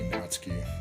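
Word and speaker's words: Natsuki: name is natski well if you say it like in Japanese it be natski they cut off that U part pretty much how do you say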